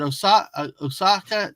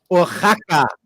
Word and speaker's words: Oaxaca: But like, I hope what is the pronunciation of Oaxaca? Oh, is it Osaka cheese? I've never always stumbled on the pronunciation of that word. Oaxaca.